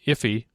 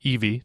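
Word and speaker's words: IIFE: immediately invoked function expression an iffy or an Eevee depending on how you want to pronounce it.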